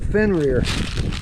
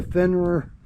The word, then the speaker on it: Fenrir: The people at Fenrir, that's spelled F-E-N-R-I-R, reached out to me and asked